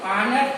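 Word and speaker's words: honest: ऑनेस्ट, a vowel है, Hindi sound, Hindi स्वर वर्ण है, हिंदी स्वर वर्ण के ही उच्चारण पता चलेंगे, ना कि ये लेटर को देखेंगे कि एच है तो ए दे देंगे। तो ये हिंदी उच्चारण में ओ आता है, इसलिए यहाँ पर एन भरेगा।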